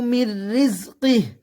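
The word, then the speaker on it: مِنْ رِزْقِهِ: ওয়াকুলু মির রিজকিহ, মির রিজকি, এখানে দেখেন নুন সেকেন্ড দেখা যাচ্ছে, কিন্তু এখানে নুন সেকেন্ডের উচ্চারণ হবে না, এখানে মিম সরাসরি র কে ধরছে, দেখেন রয়ে তাসদিদ আছে।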